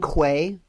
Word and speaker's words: quay: Don't you mean quay? No, it's pronounced key.